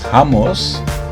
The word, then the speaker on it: hummus: or by now you learned to properly pronounce it, so you call this hummus.